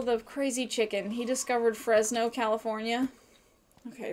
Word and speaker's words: Fresno: making missionaries really interesting I mispronounced Fresno what did I say fresn no I don't know Fresno fresn no okay wanted to say